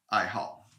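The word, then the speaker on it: 爱好: into love and so it's pronounced fourth tone i hall and uh anything else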